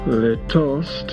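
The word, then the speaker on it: lítost: to the word quote their toast is an untranslatable Czech word its first syllable which is long and stressed sounds like the wail of an abandoned dog as for the meaning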